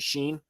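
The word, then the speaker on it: Shein: from Timu or Sheen, is that how you pronounce it? Sheen.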